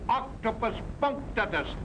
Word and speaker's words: punctatus: Octopus punctatus, accent on the punk.